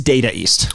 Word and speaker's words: Data East: And by the way, I kept saying Data ninjas. East. It's Data East.